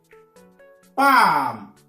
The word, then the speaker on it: palm: Palm. On ne prononce pas le R.